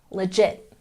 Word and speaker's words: legit: let's check our pronunciation we've got stress on the second syllable legit legit once again legit